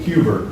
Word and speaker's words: Huber: This is Brett Huber, How do you say the last name? Huber. H-U-B-E-R. Oh, I thought you were Peter.